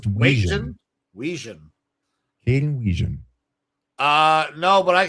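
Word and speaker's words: Wetjen: It's pronounced Watjen.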